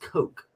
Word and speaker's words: Koch: Koch brothers is pronounced Coke. Coke. So it's not cock at all.